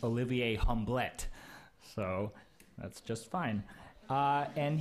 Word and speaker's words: Olivier Hublet: Belgium but he tells me his name is pronounced Olivier Hamblett so that's just fine and he is vice